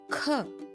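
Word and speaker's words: ख: in the word kit the pronunciation of Cur is similar to that of KH in the word khaki is similar to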